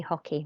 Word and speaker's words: hockey: are okay I play hockey remember not to pronounce the H in Spanish and make sure after